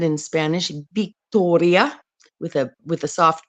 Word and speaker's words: Victoria: it's said in Spanish Victoria with a with a soft B Be chica be Grande v a V and a b are pronounced the same like they called me